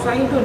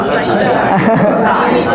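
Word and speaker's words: سعيدٌ: Oh Saidun ya bukan Saidah. Kalau Saidah ada tamar butonunnya di ujungnya.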